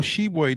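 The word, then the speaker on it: Tshiebwe: honor with kentucky forward oscar hebwe which is not spelled like it sounds all shebway did was set a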